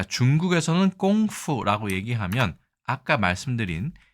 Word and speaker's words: 功夫: 중국에서는 우리가 그 쿵푸라고 얘기하는 이 꽁푸도 있습니다. 이것도 발음이 거의 똑같은데요.